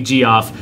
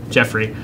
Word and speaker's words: Geoffrey: answered and stuff and they persistently call me G off because they know it's wrong to annoy me but yeah I know it is pronounced Jeff Jeffery and I eat them